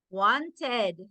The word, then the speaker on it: wanted: Wanted.